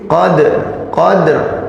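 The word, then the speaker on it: قدر: Nah ini dalnya ini qalqalah, maka dia qalqalah sughra. Jadi qadr. Nah gitu. Jadi ro, dalnya diqalqalahin dulu baru ke ro.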